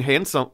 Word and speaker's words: handsome: I have the D in handsome. No, I guess the D is silent in handsome.